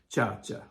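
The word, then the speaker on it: Sciascia: That's how you say his name, Chacha, like an Italian, you know?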